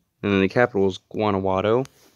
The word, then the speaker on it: Guanajuato: Next up, we have the state of Guanajuato, and then the capital is Guanajuato. Sounds like that to be how you pronounce it.